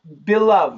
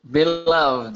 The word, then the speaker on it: beloved: So Abraham, beloved. Yes, sir. Beloved, huh? And we also say beloved.